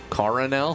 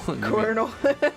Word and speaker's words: colonel: Coronel? Colonel. Colonel? Colonel is spelled so weird.